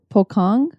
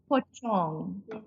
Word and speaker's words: pocong: There's also another thing that's called a pokong. Pokong? Pochong. Pochong. Yeah, whenever you see a C in a Bahasa Melayu word, they pronounce the C as a ch.